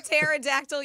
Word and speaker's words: pterodactyl: Why can't you hear a pterodactyl use the bathroom? Why can't you? Because the P is silent.